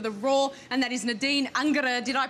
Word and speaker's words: Nadine Angerer: outstanding goalkeeper for the Roar, and that is Nadine Angerer. Did I pronounce that well enough?